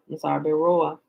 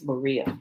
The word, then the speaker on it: Berea: The people of Beroa, Acts chapter 17, check scripture. Oh, maybe I'm saying it wrong. It's Berea, because he's talking about the Bereans.